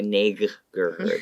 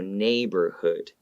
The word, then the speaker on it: neighborhood: So neighbor, even though it has GH, you don't go neighborhood, okay? It's not pronounced. The G is silent. So neighborhood, okay?